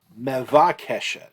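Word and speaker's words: מְבַקֶּשֶׁת: Number 5, mebakeshet. Mevakeshet, actually. Mevakeshet.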